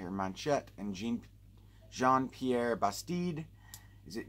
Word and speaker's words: Manchette: Based on a classic pulp novel by Jean-Patrick Manchetti, or Manchette, and Jean-Pierre Bastide. Is it Jean or John? John, J-E, it's spelled like Jean, but John, I think, Pierre Bastide.